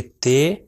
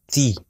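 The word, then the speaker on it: تِ: اگر اس کو کہیں گے تے تو یہ غلط ہو جائے گا، اس کا تلفظ ہے تی.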